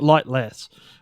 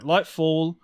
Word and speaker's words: Lightfall: No, it's Lightfall. I keep calling it Lightless, which in the grand scheme of Destiny story, that is kind of could have worked. But no, Lightfall expansion came out this week.